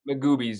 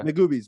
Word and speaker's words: Magoobies: Is it Magoo's? Am I pronouncing it right? Magoobies, yeah. Magoobies, my bad.